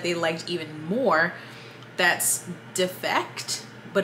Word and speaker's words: Defekt: That's Defect, but it's spelled, I'll put it up so you can see it.